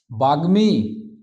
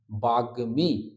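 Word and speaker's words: বাগ্মী: এবার থাকল গ যেরকম বাগমি তাহলে কি শিখলাম যদি গ দন্তন্য ল ম এর পরে ম ফলা থাকে তাহলে সেই ম উচ্চারিত হবে এখানে আরেকটা কথা বলি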